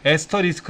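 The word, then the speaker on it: asterisk: 표시는 이렇게 뜨는 거예요 별표가 아니라 이거예요 이것을 에스터 리스크 라고 읽어야 s 터 리스크 라고 읽어요 뜻은 고파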